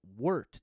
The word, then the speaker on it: wort: a wart pronounced oh wort w-u-r-t it's okay that's how you pronounce it it's spelt w-o-r-t but you pronounce it w-u-r-t word worked worked is